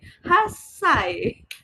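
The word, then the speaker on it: 八歳: Hasane hasai double s.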